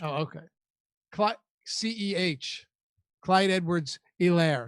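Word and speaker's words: Helaire: points were scored clyo tolaire was a was a colossal bust in a spot like that i believe that's pronounced elaire what did i say hello no h oh okay c-e-h clyde edwards elaire it's basically like c-e-e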